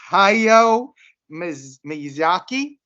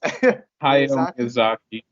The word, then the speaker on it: Hayao Miyazaki: I'm going to try to pronounce his name. Hayao Miyazaki. Did I get that close? Hayao Miyazaki. Hayao Miyazaki.